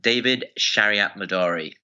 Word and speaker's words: David Shariatmadari: me sure thanks for having me ginger I pronounce my name David Shariat Midori so that must be how you got interested